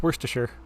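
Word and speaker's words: Wriothesley: my character's name and it's pretty simple awkward pause it's worst to sure so yeah that's that's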